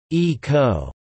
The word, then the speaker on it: Ico: the character plot ico ico pronounced e-co a horned boy is